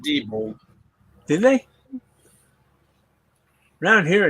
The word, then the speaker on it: Diebold: That's how you say it too. Diebold. They pronounce it Diebold. Did they? Around here it's Diebold.